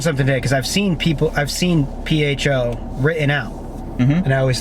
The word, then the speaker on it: pho: Pho? But it's pronounced pho.